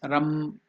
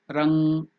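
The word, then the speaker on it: रं: In South India it is pronounced as Ram. The same thing in North India and Bengal, it is pronounced as Rang.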